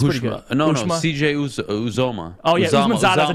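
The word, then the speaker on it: Uzomah: Uzoma.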